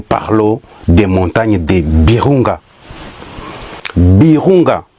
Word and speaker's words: Virunga: Birunga, moi je prononce Birunga.